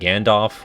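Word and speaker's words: Gandof: there's uh joachim and gandalf which is said like gandalf but spelled differently um there's o'holland which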